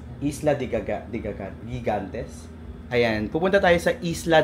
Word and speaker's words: Isla de Gigantes: Tama ba 'yung pagkaka-pronounce ko? Ah, Isla de Gigantes. Isla de de Gigantes.